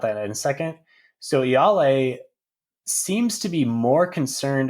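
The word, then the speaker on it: Ialai: word play with iyale i mispronounced her name in the last uh review that i did i think i said y'all lay i was trying to add too many l's and i got corrected there on discord so i'm gonna say right now yale probably won't have to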